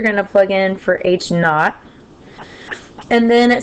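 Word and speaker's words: h naught: This is pronounced h knot. This h sub0.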